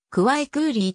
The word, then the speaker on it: 快可立: ブランド名である開花率はクワイクーリーと発音される回くわいすぐに